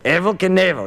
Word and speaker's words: Evel Knievel: said Evel Knievel he said how do you pronounce it I said Evel Knievel he kept saying on the phone hey neighbor